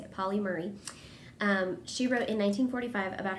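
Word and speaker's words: Pauli Murray: I think that's how you say it, Polly Murray.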